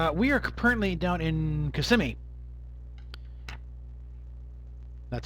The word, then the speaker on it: Kissimmee: We are currently down in Kissimmee. That's how it's pronounced, Kissimmee, not Kissimmee, but an old Indian thing.